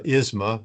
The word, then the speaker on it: iSMA: Uh certainly pronouncing our company name can be a challenge in and of itself. So we we tend to go with uh Isma as the way to uh do that.